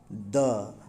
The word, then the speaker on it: the: और इस बोर्ड में हम सबसे पहले जानेंगे THE, ये हमने लिखा है द, और इसी को कुछ लोग बोलते हैं दी।